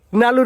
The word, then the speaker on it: নালু: উচ্চারণের বেলায় কইতাছে নালু না কইয়া হ্যাঁ কি হইছে আরে আমার নাম সঠিক ভাবে উচ্চারণ করা হয় না নাম হইলো নালু ও কইতাছে আবার কন তো ধুন্দনা